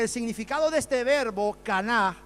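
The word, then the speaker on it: קָנָה: El verbo adquirir viene del hebreo caná. Caná. Se pronuncia literalmente, se escribe canaj, pero se pronuncia kaunau, ¿vale?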